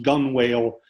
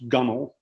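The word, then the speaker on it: gunwale: of a small boat which looks like it should be pronounced gun whale was pronounced gummel if you ever know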